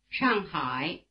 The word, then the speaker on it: 上海: 赖赖赖 Notice that the diphthong I is spelled AI as in Shanghai, which is pronounced in Chinese like this. 上海上海 Try repeating the surname.